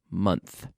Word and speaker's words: month: men a year but manager juror manager last month month month is one of my favorite words to pronounce because we have the Oh month not